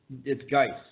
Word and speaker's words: Geis: If I it's said a hard. G? Yes, it's Geis. All right, if I said, I apologize. Keep going. I apologize. I don't believe it is pronounced. I apologize to my holy Yod in heaven for that mispronunciation.